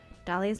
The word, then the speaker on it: Dahlia: Dahlia's most mysterious and alluring trait is the silent H in her name.